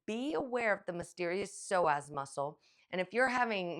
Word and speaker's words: psoas: So take care of your soaz. It's spelled P S O A S.